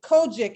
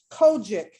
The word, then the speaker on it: COGIC: clark sisters their classic kojic is what they call it chris yes they're cogic is how they pronounce it so on